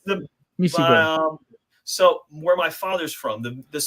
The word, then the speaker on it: Misigoy: It is Misigoy, and the person who misread it the first time, you're not the first one to do it. But it's a hard G sound. As long as you do that, you're fine, whether you get the long or the short I sound.